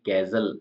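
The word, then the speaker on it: castle: हिंदी में नेक्स्ट है T silent जैसे कि कैजल में टी साइलेंट कैजल का मतलब किला लिसन का मतलब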